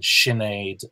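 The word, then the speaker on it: Sinéad: examples, like Sean and Siobhan and Sinead and Seamus. They all begin with a sh because they're S-I or S-E.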